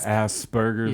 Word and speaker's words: Asperger's: can't read anymore yes Asperger's is another one I think I just said it wrong no you said right yeah some people say that one wrong people should stress the P a little more in it yeah Asperger's yeah but